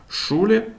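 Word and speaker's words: Schule: Вона може в окремих випадках вимовлятися як з, як в слові зон син, або в поєднанні з іншими приголосними може давати, наприклад, звук ша, як шулі школа або штрайхольс сірник. Наступна 20та літера за ліком - це літера Т.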